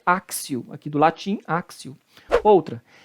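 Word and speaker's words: actio: tem som de ser você não pode falar aqui tio é Acácio dá-se a pronúncia correta é axew aqui do latim akcio outra aberratio delicti o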